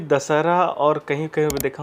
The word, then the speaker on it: दशहरा: मान सकता हूं इसको क्योंकि यहां के जो लोकल थे या मूल निवासी थे वो दशहरा का उच्चारण शायद ना कर पाए हो इसलिए दस राहा बना दिए तो वो द दस राहा या दसरा ऐसा करके वो उसको शॉर्ट फॉर्म